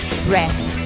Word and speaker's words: breath: Então, a pronúncia é que esse TH no final, então a gente tem que colocar a língua no meio dos dentes. Vai ficar breath.